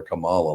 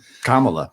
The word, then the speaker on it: Kamala: met kamla Harris and I do say her name properly I don't call her Kamal like everybody else does but Kamala yeah I just they're